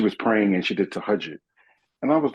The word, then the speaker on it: Tahajjud: Let me try this Tajahoon. I didn't know how to pronounce it right. Tajahoon. It was Tahajjud.